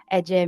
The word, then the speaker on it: Ece: so then I explained okay it's actually AJ means like queen or